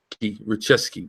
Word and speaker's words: Ruszczyk: Yeah, it's like Richeski, but go ahead.